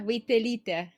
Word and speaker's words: Vaitelyte: Yeah, you pronounce every single letter. Vaitelyte. Yeah. Vaitelyte. I'm going to forget it. All right. Just remember, wait a little.